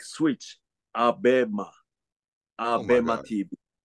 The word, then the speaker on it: Abema: It should be Abema, not Amoeba.